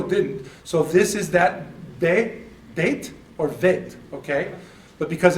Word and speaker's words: bet: So it's be, it's because of the, in the middle. If it doesn't have that dot, it's vet, but it does.